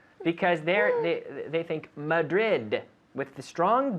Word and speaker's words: Madrid: Because in Spanish, Spanish people tend to drop the D. What city are we in, Esther? We are in Madrid. Again? We are in Madrid. Madrid. Madrid, yes. This is why the guiris, like me, we say Madrid. And if if you say to a native English speaker, I am from Madrid, they will say, Madrid? Where is that?